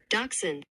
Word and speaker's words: dachshund: Dachshund. Yeah, that's the way it's pronounced.